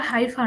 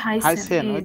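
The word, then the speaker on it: heißen: বুঝেন নাই তাই না এটা হাইফার না এটা হবে হাইসেন আমি তো হাইসেন হ্যাঁ বানানটা তো মনে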